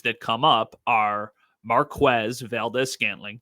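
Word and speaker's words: Marquez Valdes-Scantling: that come up are Marquez Valdez scantling that is how you say his name I asked him he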